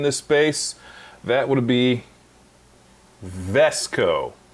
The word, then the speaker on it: VSCO: space, that would be Vesco. I say it slowly because I think I've heard it pronounced 4 different ways. I've heard it said VSCO, Visco, Vesco. I've had some of their presets.